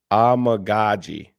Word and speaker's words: Amegadjie: When I have the actual pronunciation of his name, it's going to be horrible in Chicago. It's Kiran Amegadjie.